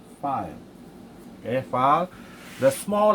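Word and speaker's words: phi: symbol of file so this one you pronounce us file okay file the small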